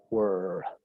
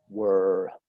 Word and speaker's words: were: La pronunciación en el pasado es cerrada. Se pronuncia were, were.